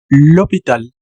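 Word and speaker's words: l'hôpital: Entonces, aquí sería lpital. Recuerden que aquí la s no existe, por lo tanto es lopital.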